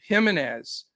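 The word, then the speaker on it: Jiménez: myself but von abreu jimenez that's with an h uh no it's it's a j but it's pronounced with an h as i that's an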